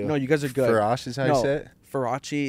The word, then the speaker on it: Verzache: you guys are good ferrachi is my excuse for if I get sued but like but is how it's pronounced yeah what is that